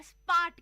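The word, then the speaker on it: spät: Bald का मतलब है सून, नॉट टकला, सून जल्दी आना, और स्पार्ट का मतलब है लेट। स्पार्ट का मतलब है लेट।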